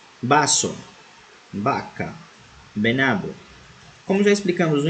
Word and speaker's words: vaca: Letra V, la V, vaso, vaca, venado. Como já explicamos no início do vídeo, a letra V em espanhol possui um som semelhante ao som de B. Por isso pronunciamos vaca e não vaca.